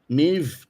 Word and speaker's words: Maeve: Maeve rhymes with Dave has changed her picture.